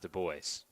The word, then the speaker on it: Du Bois: Well, we found out in Florida that we had been saying her last name incorrectly. We won't say the incorrect pronunciation again, as that's chopped foul, but it is pronounced Du Bois. To be fair, though, anyone who looks at that name will pronounce it as we did.